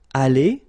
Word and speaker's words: allé: Aller, even if you've got the s. Aller, even if you've got this es. Okay, so doesn't change.